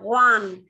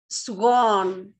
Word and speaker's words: swan: Không đọc one, cái con thiên nga ấy, swan, swan, swan.